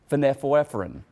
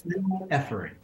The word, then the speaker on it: phenylephrine: notice, to look at a particular ingredient called phenylephrine. I messed that up. The doctor's going to pronounce it correctly, though.